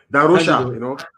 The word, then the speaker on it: da Rocha: Darosha, Cândido da Rocha, Darosha.